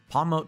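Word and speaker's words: Pawmot: Palmote, though, I did manage to actually... I think it's supposed to be pronounced Palmet, like a Marmot.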